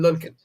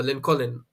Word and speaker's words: Lincoln: Yeah, but uh I don't know the uh right pronunciation for Lin Colin. L Colin, right? Or what? Lincoln. L Colin. Yeah, I like that. It's Lincoln.